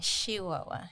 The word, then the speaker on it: Chihuahua: born in Chihuahua Mexico Chihuahua Chihuahua yeah that's how that's how you say it and uh yeah so